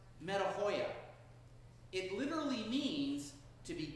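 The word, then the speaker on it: μετάνοια: In Greek, it's pronounced metanoia.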